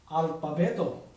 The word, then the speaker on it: alpabeto: Alphabet in Tagalog is alpabeto. I pa be to.